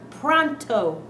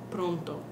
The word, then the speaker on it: pronto: i want that done pronto what's wrong with that pronunciation pronto these are o's right our spanish o's do not change they always sound like oh so how should these